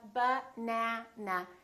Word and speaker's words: banana: For example, if I say the word banana. Banana has three syllables. Let's take a look. So, we have ba-na-na. This second syllable is stressed. That means this vowel is going to be much longer. Repeat, banana. Banana. So, the a is going to be prolonged.